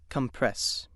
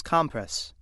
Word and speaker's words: compress: The other pronunciation of word three is compress. Compress. This pronunciation is used when word three functions as a noun meaning a folded cloth or pad applied to an injury.